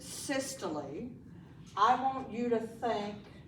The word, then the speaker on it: systole: When you see the word systole, that's how you pronounce it, systole, I want you to think contracting, okay?